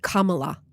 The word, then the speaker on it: Kamala: of her name cuz the out louers are saying it's comma no it's not it's just not it's Kamala like karma is my boyfriend k right y heavy pronunciation on the first salable okay Cara got it